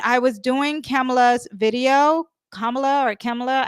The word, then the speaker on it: Kamala: When I was doing Kamala's video, Kamala, I don't know how you say her name. Kamala, I think is how you say it.